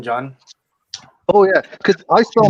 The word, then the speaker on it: Jon: jack jake john or john no it's a pronunciation john oh yeah because i saw my name yeah i spelled my name jon and people have been calling me for years because i have an accent or